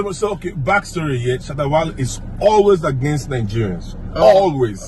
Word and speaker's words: Shatta Wale: Yeah, let me pronounce like a Ghanaian, like an African. Shatta Wale. Shatta Wale.